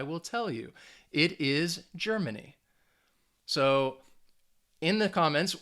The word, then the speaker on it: Germany: has three syllables and that stress you should have said the first syllable so the first syllable is going to get that emphasis germany if you got that